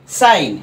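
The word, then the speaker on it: sign: বুঝতে পেরেছ এরপরেরটা দেখো সাইন একইভাবে এস আই জি এন সাইন এখানেও কিন্তু আইন উচ্চারণ করছে এবং এই জি টা কিন্তু সাইলেন্ট রয়েছে রাইট সাইলেন্ট রয়েছে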